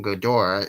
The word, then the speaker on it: Ghidorah: gadora the three-headed monster this name godora is a japanese pronunciation of the russian pronunciation of hydra okay see to your